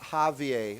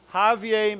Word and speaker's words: Javier: Okay, now this is pronounced with an H. Ha. Javier. Okay. Javier Mille.